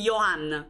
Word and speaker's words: Johann: una cosa del genere la j si legge come una i Ok quindi Johan ma tanto lo chiameremo